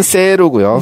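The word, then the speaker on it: セール: 자, 세일은 세루고요. 네. 세루. 세루. 이건 쓴 세이루에서. 네, 그렇죠. 이 발음 된. 탈락하고 세가 긴 장음으로 변한 거죠.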